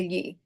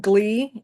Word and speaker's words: gli: If you can say million, you can say ye. And you can also fake it pretty close. As long as you're not pronouncing it glee, as long as you just ditch that g sound, you're good.